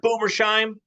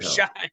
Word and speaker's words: Boomershine: Come on, Yeah, Mark Boomersheim. Let's go. yeah. Maybe if you pronounce his last name correctly, it would help. Boomershine. Boomershine. Boomershine, is it? Boomershine with an N, not an M.